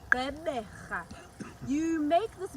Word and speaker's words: Gqeberha: In isiXhosa, the G is an R. And that is the last click. It's the G of the R. And there you have it. That is how you pronounce Gqeberha.